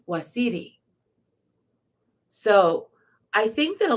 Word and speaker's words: Osiris: was so powerful and the name osiris is actually pronounced wasidi so i think that